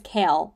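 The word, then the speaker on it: Chaol: the king's Army which is CH or kale her name his name is kale I finally figured out or uh watched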